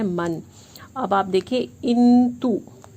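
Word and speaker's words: 印度: अब आप देखिए इंतु, YINDU, डी को त प्रोनाउंस करते थे, याद रखिएगा।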